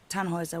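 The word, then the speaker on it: Tannhäuser: We'd pronounce it Tanhoer with an um load.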